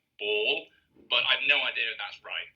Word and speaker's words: Bauul: voice personally pronounced it is like brawl without the r so like ball but I've have no